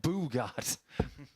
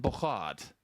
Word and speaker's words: Bogaard: to say to him, how is your name pronounced? And he said, it's not Boogard. 140. So it was a thing for a few weeks. It's Patrick van den Bogaard.